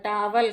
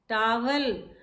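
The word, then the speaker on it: towel: और सबसे ज़रूरी तो होता है टावल, कहते हैं हम लोग। नहाने जा रहे हैं भाई, टावल पकड़ा दो मेरा। टावल, टावल, नो, इट इज टॉवेल, टॉवेल, टॉवेल। Correct pronunciation is टॉवेल।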